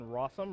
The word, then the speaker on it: Rossum: Nick Miller's pick is Jonathan Rossum, rhymes with awesome.